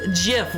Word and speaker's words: GIF: It's It's GIF with a hard a hard G.